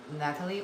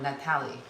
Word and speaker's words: Natalie: So is it Natalie or Natalie? I heard it's Natalie a lot. Yeah. I mean, it's probably just my accent, but Natalie, it's spelled like the same as like the actress Natalie Portman.